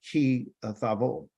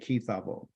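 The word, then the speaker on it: כִּי תָבוֹא: Our Torah portion this week has been called Ki Tavo, and that's how you say it, Ki Tavo.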